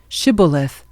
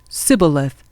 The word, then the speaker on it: Shibboleth: If the man said, "No, I am not," they would tell him to say Shibboleth. If he was from Ephraim, he would say Sibboleth, because people from Ephraim cannot pronounce the word correctly.